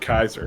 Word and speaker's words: Caesar: Caesar I don't know he would have pronounced it Kaiser I think okay I think that's